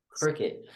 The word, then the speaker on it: Criquet: Instagram, Twitter, Criquet. That's about it. Yeah, not spelled like cricket, but cricket.